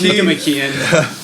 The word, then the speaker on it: Nicomachean: okay, so It's pronounced Nicomachean.